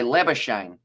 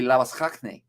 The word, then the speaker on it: Labuschagne: Because if it's like this Australian cricketer, you'd say Labuschagne. But because it is, I assume, pronounced Afrikaan, it would be Labuschagne, if I'm not wrong.